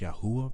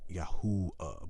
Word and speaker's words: Yahuwah: Testament, Yahuwah or Yah, or how it's pronounced Yahuwah, because the Wav sound, the Yod Hey Wav Hey, doesn't make a W sound. It makes a Oo sound, Yahuwah. But the Jews who call themselves Jews, they, within their language, the list that they have, they say Yahweh, but that's not the proper pronunciation, which is why they're